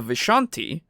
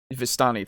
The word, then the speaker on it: Vistani: at least because they they say the vishanti um or sorry i don't think that's dani vistani thank you um the i don't know why i keep pronouncing it that way but um it's how we pronounced it in our campaign i know yeah and i just it just i never pronounced it right anyway so the vistani